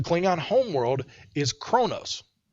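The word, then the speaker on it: Qo'noS: first off the Kling on home world is Kronos it's actually spelled qo apostrophe n o capital S but it's pronounced Kronos oh like in Arabic yeah like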